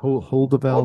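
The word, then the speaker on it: Heuvelt: Hoedevelt.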